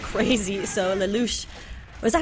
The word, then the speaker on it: Lelouch: So Lelouch, was that how we decided to say his name? Yeah, it's Lelouch. Lelouch right there. It's a French pronunciation.